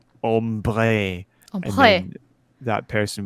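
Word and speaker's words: ombré: You wanted ombre. It's pronounced ombre.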